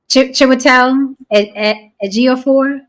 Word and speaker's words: Chiwetel Ejiofor: Chiwetel Ejiofor.